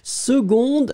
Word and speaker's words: seconde: Seconde, oui, c'est très très bien. On prononce g, mais on écrit que.